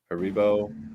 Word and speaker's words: Haribo: center here but uh they opened up a Haribo is that how you pronounce that Haribo yes um and those are the ones where